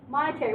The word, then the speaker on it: monetary: this right yesterday monetary monetary what kind what does it sound like come on and party it sound like money exactly so what does it